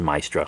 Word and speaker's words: Maestra: I think it's pronounced Maestra, like Maestro.